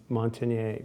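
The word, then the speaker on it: Montagnier: and the viologist from France um Luke Montineier Montineier thank you for saying it because I always mispronounce it.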